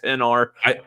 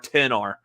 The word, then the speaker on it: XR: So it's an iPhone XR, not XR, not XR, 10R. Say it right.